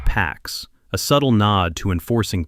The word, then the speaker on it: P4X: He chooses the name P4X, pronounced PAX, a subtle nod to enforcing peace through punishment.